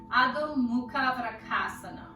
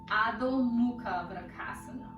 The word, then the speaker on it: Adho Mukha Vrksasana: That's how you pronounce that in Sanskrit, but it's called handstand. Adho Mukha Vrksasana. Adho Mukha Vrksasana.